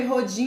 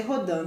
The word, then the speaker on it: Rodin: Se escreve Rodin, mas se lê Rodin, tá, gente?